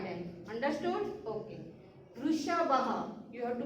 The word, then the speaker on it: वृषभः: Vrishabha. You have to pronounce the words orally.